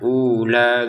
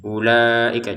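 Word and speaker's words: أولئك: Jadi jangan dibaca ula gitu ya. Ini tetap dibaca pendek ya ulaika.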